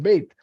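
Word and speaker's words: בית: And Beit is pronounced as, it's not pronounced as Ba, but the letter itself has a name. It's called Beit.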